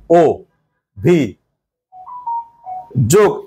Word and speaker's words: অভিযোগ: অধ্যক্ষ স্যার অভিযোগ, খেয়াল করো এখানে ছিল অভিযোগ, অ উচ্চারণ যদি আমরা অ করি তাহলে হয় অভিযোগ, কিন্তু আসলে এটা কি উচ্চারণ? উচ্চারণ হচ্ছে ও ভি যোগ।